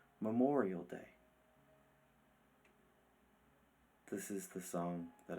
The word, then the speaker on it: Memorial Day: I asked Papa Joe if I could sing a song to help celebrate Memorio's Day. "Okay, Bobby," he said reluctantly, "but it's pronounced Memorial Day."